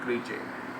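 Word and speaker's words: crèche: इसका सही आंसर है क्रीचे, सी आर ई के ऊपर सी एच, क्रीचे। इसको प्रोनाउंस करेंगे क्रीचे।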